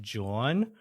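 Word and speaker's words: jawn: but it's the word I think it's pronounced John and it's j a w n uh and it essentially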